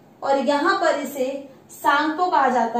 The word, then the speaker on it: Tsangpo: और यहाँ पर इसे सांगपो कहा जाता है। TSANGPO, टी से स्टार्ट होता है, टी साइलेंट है यहाँ पर, जैसे सुनामी में टी से स्टार्ट होता है, टी साइलेंट, ऐसे ही सांगपो है।